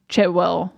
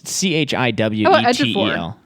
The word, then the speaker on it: Chiwetel: Then he gets caught by Chetwell. Did I say his name right? Chiwetel. Chitwiddle? I thought it was Chewitwell, but it's Chiwetel. Ejiofor, yeah.